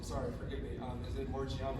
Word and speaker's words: Morgiana: Is it Morgiana, right? Yeah, it's Morgiana. Okay, just make sure I got that name and pronunciation right.